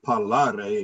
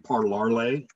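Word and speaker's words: parlare: spending time with that kept mispronouncing the word to speak and the word is paulary and he kept saying parlarlay and it got to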